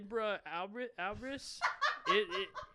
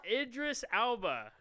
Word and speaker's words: Idris Elba: Ibra Albris. How do you say his name? Idris Elba.